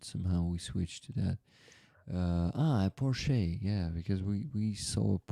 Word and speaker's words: Porsche: Porsche rhymes with Borsche.